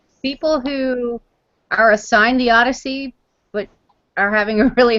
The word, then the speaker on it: ODY-C: Jack Jack uh yeah it's pronounced Odyssey um even though it's